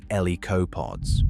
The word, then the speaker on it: lycopods: Ferns the size of trees, horsetails the size of trees, club mosses called lycopods, pronounced el-ee-ko-pods, growing over 100 feet